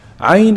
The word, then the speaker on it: عين: عين Ayn is pronounced from the middle of the throat.